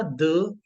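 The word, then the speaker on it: dix: फ enough and then for टेन वी गना से दि दि बिकॉज आई की साउंड हमने की थी ई साउंड राइट तो ट्स व साउंड इज दज दज देन फॉर 11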